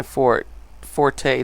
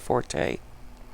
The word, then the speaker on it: forte: Since that is going to clearly be my forte today. Do you guys know, by the way, that that is actually correctly pronounced fort instead of forte?